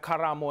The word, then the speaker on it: Karamo: It's so weird because because in South Africa we have Karabo, and then in Africa obviously we have Karamo and a chait, but then like, and then people here are like Karamo.